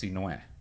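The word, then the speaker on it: Sinhue: My full first name is spelled S-I-N-H-U-E. And it's pronounced Sinue.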